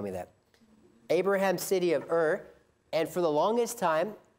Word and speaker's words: Ur: Ur. U-R is how you spell it.